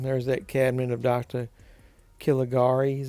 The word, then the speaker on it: Caligari: Caligari, is how you pronounce it.